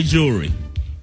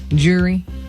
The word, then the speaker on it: jewelry: apologize if i ever how do y'all say jewelry jewelry jewelry jewelry jury yeah uh evil that's not the right way don't say jury you got to put that l in there you'll be all right